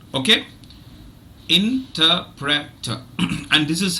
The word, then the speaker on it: interpreter: okay interpreter interpreter interpreter so if you notice the second syllable is stressed and there are no other stressed syllables in the uh in the in the word so the other three syllables one three and four are are weak now let me share